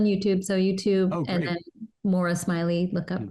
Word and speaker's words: Moira: so YouTube and then Mora Smiley look up Mora Smiley and it's not pronounced like it's spelled I know so for